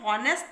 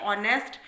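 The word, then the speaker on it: honest: अब हम इसको जब प्रोनाउंस करते हैं तब हम इसको हॉनेस्ट तो पढ़ते नहीं है, इसको पढ़ते हैं ऑनेस्ट।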